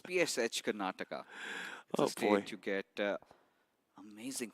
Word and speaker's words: Karnataka: and also psh Esports kataka how do you pronounce that that's so long it's psh Karnataka a state you get amazing food out there